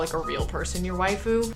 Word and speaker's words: waifu: a wife who is it's just the Japanese pronunciation of the word wife so usually it's like your favorite usually anime character which isn't quite it's called a waifu you can use it